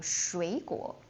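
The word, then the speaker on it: 水果: Uh oh, this one have double third tones. I know you have the tendency to pronounce like shui but trust me, nobody would do that. It's it's too hard. So, um raise the first one like shui like shui like when you pronounce as the second tone.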